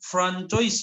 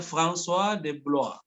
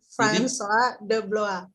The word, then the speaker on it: François de Blois: Baca itu bukan Francois ya, François. Bacanya François de Blois. Itu bahasa Prancis. Siapa Pak? Bang, pakai jadi R-nya itu mereka baca kayak Roin, François de Blois. François de Blois.